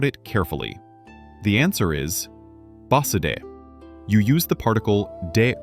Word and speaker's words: バスで: The answer is basude.